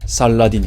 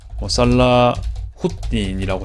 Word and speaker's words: 살라후딘: 참고로 살라딘이 있습니다. 살라후딘이라고 해야 좀 더 가까운 발음이긴 한데, 네, 그렇게 이어지면 될 것 같다 말씀드리고, 이 아유브 왕조가 뭘 했습니까?